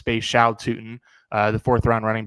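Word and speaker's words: Bhayshul Tuten: Really impressed according to the pronunciation guide in front of me. It is Bay Sha Toot in Bay Shaun. I've definitely been saying Beutin, but it's Bay Shaol Tutin.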